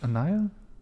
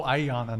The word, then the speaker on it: Ayanna: what's your name again Anaya how do you say your name follow me again Brian what oh Ayanna not Anaya okay you said that